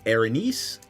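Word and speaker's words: Erinyes: Uh the proper pronunciation is Arines and they are all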